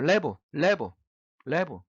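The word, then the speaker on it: לב: 뭐라고 읽습니까? 레브라고 읽어요. 레브.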